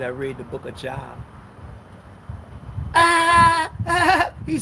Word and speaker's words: Job: You was arrogant, Job.